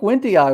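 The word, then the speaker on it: wendtii: daddy went the eye i think wendy i was the was the correct pronunciation when the eye okay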